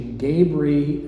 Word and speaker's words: Gabree: Some of them eventually migrated to Gabaree, and some, I think the pronunciation changed to Gabree, and that brought an alternate spelling without that middle A.